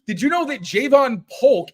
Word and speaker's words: Polk: Like not Polk, like Polk. Like I'm trying to pronounce like yoke. So it's yoke. Like it's Polk, like yoke.